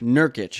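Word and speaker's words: Nurkić: Joseph Nurkic. Nurkic.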